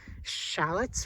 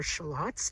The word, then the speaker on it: shallots: I have Spanish onions, white onions, and shallots or shallots, depending on how you say it.